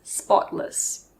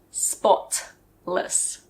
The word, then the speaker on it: spotless: this means very clean pay attention to how the tea is pronounced in the middle of the word it's a very soft tea we don't usually say spot less we say spotless spotless the opposite of